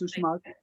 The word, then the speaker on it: Uxmal: Yes, Uxmal.